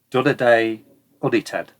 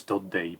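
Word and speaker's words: Dundee: are uh courti and D Day oned okay I know it's dundy but come on that's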